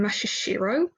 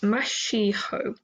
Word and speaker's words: Mashiho: noro Nori Mash mash I keep on pronouncing his name mashiro even though there is an r in it it's just Mash mash mashiho um hi Maho ke